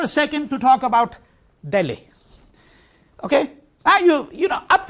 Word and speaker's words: Delhi: Delhi, or Delhi as we say in Delhi, right? If you're a Delhi wala, means you're from Delhi, which is how it's said in that city.